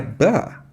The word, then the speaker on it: but: galera but repar que esse but que ela fala não fala com T muito forte esse T não é but né but muitas vez nem sai ba né então but that's